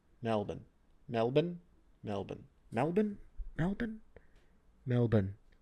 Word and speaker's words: Melbourne: want to rehearse this Melbourne Melbourne Melbourne Melbourne Melbourne Melbourne Melbourne trying to say it like an Australian if I was Nicole